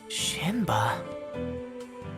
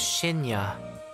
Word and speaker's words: Shinya: Shinba? Yes, no, close. My name's Shinya.